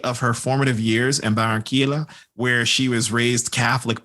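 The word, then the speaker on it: Barranquilla: very good yeah but Shakira was born in Baron Keel uh yeah I actually do know how to say this is Shakira was born in barranquila Colombia on February 2nd 1977.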